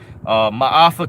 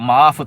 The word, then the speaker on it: Ma'afa: Another documentary is called Ma'afa 21. It's spelled M as in Matthew, A as in